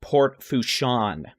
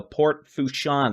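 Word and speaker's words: Port Fourchon: above ground level and apparently it is pronounced port fuchson so port fusion the potential for 12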